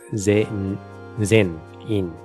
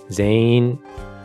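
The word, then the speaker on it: 全員: pronounce it was that the N isn't that hard, it sort of blends in with other things, so you end up with Zane, which is, you kind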